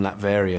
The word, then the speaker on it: Latveria: Latveria, yeah.